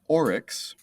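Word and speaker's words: aurochs: cows were domesticated from is called oryx a-u-r-o-c-h-s that's not even close english is a weird language um but for whatever reason they are pronounced the same to the best of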